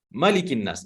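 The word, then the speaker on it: مَلِك: Dalam surah An-Nas, Qul a'udzu birabbin nas, malikin nas. Nah, di situ pendek bacanya Bapak dan Ibu.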